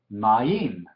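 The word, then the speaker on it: מַיִם: Maim. Ya vimos esto en el ejemplo de los diptongos, ¿sí? Entonces, esta patak, la yod y la hidek funcionan como una unidad y esta es una sílaba, maim.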